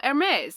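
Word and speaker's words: Hermès: And I was like, "Oh, Hermes. It's like this fancy brand." And they're like, "Why do you call it that?" And I'm like, "It's how they pronounce it on the Italian news channel, okay?"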